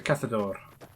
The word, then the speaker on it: cazador: Cazadores but if it if we're using the Spanish pronunciation of things should to be Cathal eros because that is a sound in Spanish right so it's a cathode or and they kept the